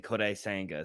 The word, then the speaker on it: Kodai Senga: And by the way, can I just say you pronounced that amazingly, Kodai Senga.